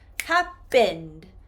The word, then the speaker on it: happened: Now, if I change happen into the past tense, happened, happened, I do not include another syllable sound.